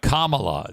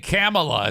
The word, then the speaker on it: Kamala: our wonderful country sir it's it's a Kamala that's that's that's how you say your name Kamala CA yeah's do it together big front camea no kaming camea Kamala is how you say you keep saying you keep saying camela it's Kamala camela comrade she's a